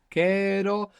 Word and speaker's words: quiero: Under the stress when we say querer, we have the accent on the end, we have the accent on the ending. Then when we take off that and we put o, we would have quiero, but when we stress down that E, it splits and it becomes quiero.